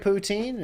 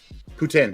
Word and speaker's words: poutine: Home of Sojourn, some great poutine, and the Overwatch League Grand Finals.